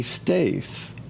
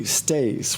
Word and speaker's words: cteis: emblem of the lingam, the phallus, and the stais. So here is why in Hinduism and in many other spiritual cultures, they use these symbols for creativity, the lingam and the yoni, the phallus and the stais, which, by the way, is spelled C-T-E-I-S.